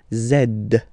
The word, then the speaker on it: zed: zed zed okay so remember to pronounce this d at the end zed zed okay so let's